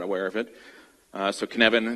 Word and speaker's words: Cynefin: So Cynefin, it's not pronounced Cynefin, it's pronounced Cynefin. That's kind of the first test. It's like one of my colleagues said, it's like Kevin with a sneeze.